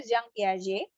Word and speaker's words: Jean Piaget: Jadi anak psikologi jangan manggilnya Piaget gitu ya, Jean Piaget bukan ya. Dia orang Prancis ya. Prancis apa ya? Kok saya lupa ya. Pokoknya bacanya Jean Piaget gitu.